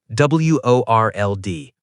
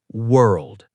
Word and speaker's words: world: And I opened my mouth and said, World. Very German sounding, very wrong.